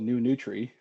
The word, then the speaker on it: NueNutri: have a weird name, it's called new nutri and it's spelled nury. The reason it's spelled that way is the NUE stands for nutrient use efficiency.